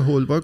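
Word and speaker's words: d'Holbach: خیلی تلفظ اسپل اسمشون عجیبه. هولباک بود DHOLBACH می نویسن.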